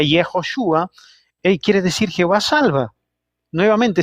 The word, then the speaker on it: Yehoshua: nombre de Josué, ¿no?, que se pronuncia Yehoshua, quiere decir Jehová salva.